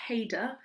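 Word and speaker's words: cheder: when I was younger Haider if you can't make that sound at the beginning heydo you can just call it Hader Hader and I went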